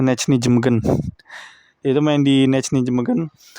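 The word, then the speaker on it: Nijmegen: Karena kabarnya yang bujuk Hilgers buat jadi WNI juga salah satunya dari Calvin Verdong ya, pemain Nechny Jemegen, yaitu pelafalan Indonya gitu, Nechny Jemegen.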